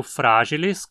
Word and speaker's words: fragilis: O epíteto específico fragilis, com I curto na penúltima, significa frágil, quebradiço.